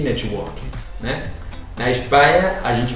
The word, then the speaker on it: network: A gente não fala network, a gente fala network, ou network, porque esse T pra gente é difícil, então muitas vezes a gente pronuncia T.